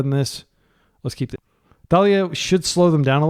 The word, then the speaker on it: Thalia: And it is pronounced Thalia. For a long time, I called her Talia because that's like a common name.